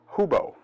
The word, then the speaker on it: Hubo: Korea is called the Hubo. It's and if I'm pronouncing that wrong, I'm sure somebody will correct me. But it's pronounced, at least I see that as Hubo, H-U-B-O, H-U-B-O-I, Hubo-I.